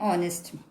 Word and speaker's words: honest: For example, an honor, an hour, an honest. Now here the H is mute, it is silent.